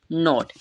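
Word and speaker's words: note: हैं टा ठीक है उसके बाद जो हमारा लास्ट में ई दिया है वो क्या रहेगा साइलेंट रहेगा वो कि जहां पर भी हमरे दिख रहा है वो सब में साइलेंट रहा है ठीक है तो इसे हम क्या पढ़ेंगे नोट ठीक है नोट होगा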